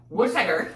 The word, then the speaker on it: Worcester: Because Worcester, which is spelled like Worcester, W-O-R, but it's pronounced Worcester.